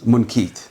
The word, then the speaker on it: Munqidh: Yeah, DH is like approximate, a TH. more like a D, but it's... Munqidh.